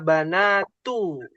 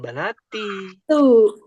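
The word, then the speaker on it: بناتُ: Aritunalnas ya banatu bukan banati eh bukan banata ya.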